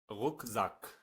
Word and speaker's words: Rucksack: ترکیب CK مثل K معمولی تلفظ میشه و صدای K تولید میکنه، مثل کلمه rock، rock، rock به معنی دامن یا کلمه rucksack rucksack rucksack به معنی کوله پشتی یا کلمه yak yak